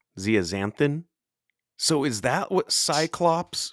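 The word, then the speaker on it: zeaxanthin: No, you need the luteine and the I think it's pronounced Zia Xanthin. Zeazanthin.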